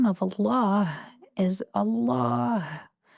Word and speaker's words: الله: the name of Allah, don't forget the sound of the ha at the end, because the name of Allah is Allah, not Allah, like some people say.